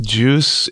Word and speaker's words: Guice: Juice is, and I should say it's Juice pronounced, it's spelled Guice if you're Googling it. Mm-hmm. So it's Juice, and it's pronounced like GIF.